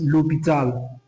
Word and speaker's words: l'hôpital: Like for example, this l'hôpital, l'hôpital, or let's say l'hôtel, l'hôtel. When you are pronouncing this, you find out that the H letter is being silent.